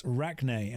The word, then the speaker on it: Rachni: It's Rachne, as in like arachnid.